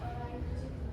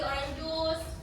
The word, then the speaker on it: orange juice: Masih banyak eh beberapa siswa yang salah penyebutan seperti di orang juice, Gracy, Sveri.